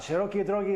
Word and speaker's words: szerokiej drogi: Szerokiej Drogi is simply the Polish Szerokiej Drogi.